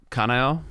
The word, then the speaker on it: Kanao: Kanao Yeah.